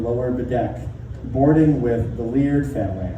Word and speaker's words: Leard: bedc boarding with the leard family I believe it's pronounced weird l e a r d see I've been